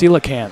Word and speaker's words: coelacanth: Alex ale well it's like Bali Oh Oh coelacanth that's coelacanth I'm sorry I should I should I should respect his new tag it's coelacanth for God's sake it's just an it's just